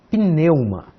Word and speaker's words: pneuma: Aqui nós temos que colocar juntos essas duas consoantes. Pneu, ma. Pneu, ma. Tá bem? Duas sílabas somente.